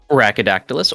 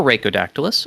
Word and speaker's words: Rhaco_Dactylus: say your name sir brachydactylus or racodactylus either pronunciation is fine fine we're gonna do